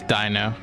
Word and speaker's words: dino: It's dino. Like dinosaur.